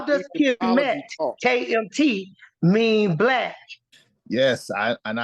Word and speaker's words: Kemet: See the way we pronounce it. Hold up. How does Kemet, KMT, mean Black?